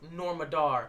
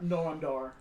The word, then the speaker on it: Noam Dar: And I'm actually thrilled for Norma Dar. Noam Dar. Okay, it's spelled weird.